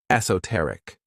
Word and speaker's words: esoteric: This word has 4 syllables, and the stress is on that third syllable, esoteric.